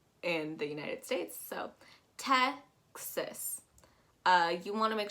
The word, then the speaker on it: Texas: as an e and you want to make sure that that a is pronounced as an i so texas texas make